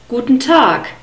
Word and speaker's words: guten Tag: pronounced like a que it's not such a strong k but at least it's not a hard G sound guten tag passion passion